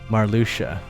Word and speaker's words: Marluxia: There's, how do you get a sh out of that? XAI is sh. I guess, okay, yeah, XIA is sh. Marluxia.